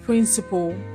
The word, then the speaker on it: principle: This word and this word are homophones. They're pronounced the same way. So if you can pronounce this word as principal, then you should also pronounce this word as principal, because they are homophones.